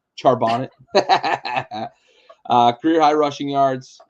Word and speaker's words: Charbonnet: a big day uh career high rushing yard pronounce it charbonnet charbonnet uh career high rushing yards um two touchdowns